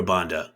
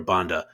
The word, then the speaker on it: Banda: A lot of people talking about our gal, your gal, the Zambian wonder, Barbara Banda, who we've been calling Barbara Banda since the World Cup, since we started doing all the research in that.